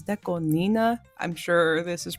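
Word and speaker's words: DECO*27: I know sometimes it took me a while to figure out that Deco 27 wasn't Deco 27 and it was Deco Nina.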